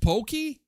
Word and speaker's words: poke: It's Oh, it's pronounced pokey.